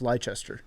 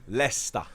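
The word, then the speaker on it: Leicester: were a big deal we know how to pronounce lychester lesta so all right so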